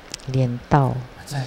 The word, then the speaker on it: Lien Tao: I didn't know, so I pronounced it as Lien Tao, which meaning upside down. Actually, Tao meaning arriving. Lien Tao, Reverend Lien Tao.